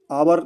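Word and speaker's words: hour: किसी के साथ में he comes आवर late daily. तो आवर यहां पे अ से बोलते हैं। यहां पे एच साइलेंट होता है।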